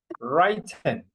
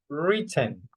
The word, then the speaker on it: written: So if I find this one, I'm going to pronounce writen and that's not correct. Okay, that's not correct. Here is right, but here is written. No written written. Okay, so pay attention to that verb.